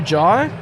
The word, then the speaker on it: Jhye: Jai's first name is spelt Jhye. Do you think what doesn't need to be there? The H or the Y? Without the Y, it'd be J. So I'm pretty sure the Y is necessary.